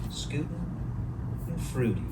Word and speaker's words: Schadenfreude: How the hell do you pronounce Schadenfreude? Schadenfreude.